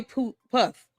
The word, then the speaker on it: Puth: Put. Pronounced Put.